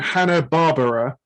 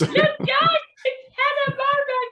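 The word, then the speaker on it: Hanna-Barbera: So you think Hannah Barbara, which is how I used to mispronounce it growing up. It's pronounced barbar, but it's spelled barbar. It's Hannah Barbara.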